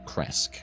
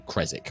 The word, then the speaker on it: Krezk: with the mysterious Abbot who rules Kresk or Krezk, whichever way you want to pronounce it.